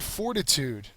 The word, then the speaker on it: fortitude: Next word, fortitude. I thought this picture was pretty funny. This little kid definitely has some fortitude. It's a noun. First syllable is accented.